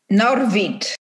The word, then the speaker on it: Norwid: You want me to pronounce his name Norwid or Norwid? Norwid.